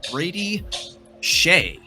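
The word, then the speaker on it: Brady Skjei: Brady Sky Brady SK this name is actually pronounced Brady Shay off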